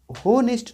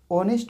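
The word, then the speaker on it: honest: इसको होनेस्ट नहीं बोलते हैं, एच ओ से हो तो होनेस्ट नहीं बोलेंगे। ऑनेस्ट में एच हमेशा साइलेंट होता है, इसको प्रोनाउंसिएशन जो होता है ऑनेस्ट से होता है। ठीक है, एच साइलेंट हो जाता है, ऑनेस्ट।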